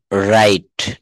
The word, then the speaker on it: wrong: এরপর একটা বলছে রং, WRONG, অর্থাৎ এখানে আর থেকে শুরু করতে হবে।